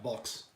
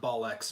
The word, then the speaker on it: bulks: Oh, yeah, bulks. Bulks. Like ball X bollocks. Not ball X, but bulks.